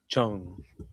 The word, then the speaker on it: Chang: shorter, not G. You remove the G.